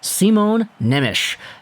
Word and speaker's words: Simon Nemec: 18 year old defenseman simone nemish now i get it it's spelt simon nemec but it's slovak so it's not the same in the way the pronunciation goes either way today we're